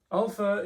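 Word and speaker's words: ἄλφα: So alpha is pronounced like the ah in father, alpha.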